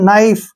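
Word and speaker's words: knife: जानना ठीक है ना के एन आई एफ ई एन से पहले फिर के आया इसको फिर छोड़ देना है नाइफ क्या पढ़ेंगे नाइफ नाइफ मींस चाकू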